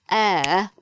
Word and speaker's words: heir: a vowel sound because we don't pronounce the H in this word. You may know the word air, which we had in another lesson about using a and an.